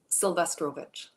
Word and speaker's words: Sylwestrowicz: Doctor, how do we pronounce it again? Sylwestrowicz.